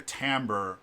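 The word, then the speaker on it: timbre: t i m b re e um but pronounced tamber um it's a musical term that basically uh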